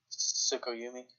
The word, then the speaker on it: Tsukuyomi: Tsukuyomi.